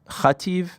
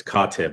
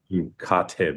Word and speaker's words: Katib: Uh, I believe your opponent's name is Sam Kativ, if I'm pronouncing that correctly. Is that right? It's it's Katib.